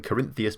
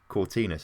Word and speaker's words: Cortines: I keep calling him Corinthians before that. And then I looked actually how you say it. It is Cortines, isn't it?